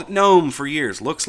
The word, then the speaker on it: GNOME: All of a sudden, now we all have to pronounce the G because it's G and U or whatever the deal is.